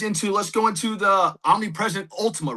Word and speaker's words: Omnipresent Ultima: Well, then how did that get you guys into Let's go into the Omnipresent Ultima, right? I did pronounce that right?